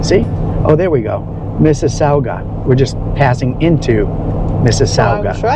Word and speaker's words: Mississauga: I just had to pronounce it because it was Sauga, like Mississippi, but Mississauga.